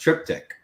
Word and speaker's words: triptych: It's more of a harmonious, likely from a refill cask, which I do want to point out Joe Manguno said that it's pronounced triptych.